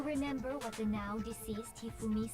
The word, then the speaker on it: Hifumi: Hifumi, like with the Japanese accent. That's awesome. The Japanese pronunciation.